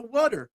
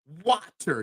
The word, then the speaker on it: water: It's the actual way you say the wooder. The word wooder. That is how you say it. There is no mispronunciation there. That is exactly how I was taught and trained to say that word. Wooder. Water. It doesn't sound natural. Wooder just rolls right off the tongue.